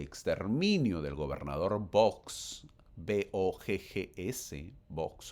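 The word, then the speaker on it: Boggs: Los santos son expulsados de Misouri bajo la orden de exterminio del gobernador Vox, BGS, Box o Books, como quiera llamarlo. No se pronuncia Books, se pronuncia box.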